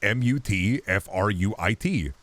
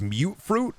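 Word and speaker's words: Mutfruit: it was just like m u t f r UI T mut fruit it's mute fruit because it's mutant fruit and just for years I was just pronouncing it wrong and then I look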